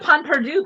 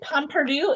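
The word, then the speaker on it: pain perdu: Oh, they got Pon Perdu. Pon Perdu, isn't that how it's pronounced? Pon Perdu. Panole. It's not with pain, it's pun, right?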